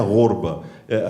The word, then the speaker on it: ghorba: O tema é a questão da gorba, que a gente, na verdade, pronuncia gorba.